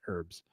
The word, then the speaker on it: herbs: She's gotten on me about this before, that we don't say the H in herbs.